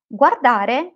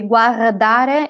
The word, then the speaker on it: guardare: Everyone will understand you, and in Italy, not everyone knows how to pronounce, how to roll the R. Okay, so don't worry about that. It's really not important. But you have to make a sound for it. You cannot just leave it out. Just make a sound, whatever it is, which sounds a bit like an R.